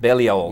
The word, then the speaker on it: Balliol: Is that how you pronounce Balliol. it? Balliol, yeah. from Oxford.